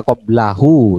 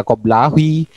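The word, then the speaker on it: قبله: Tapi kata maaf nih ya, baca koblahu, jangan dibaca koblahi atau koblahu. Ah, jangan dibaca koblahi atau dibaca koblihi. Koblahe. Jangan dibaca seperti itu. Jadi bacanya koblahu bayang.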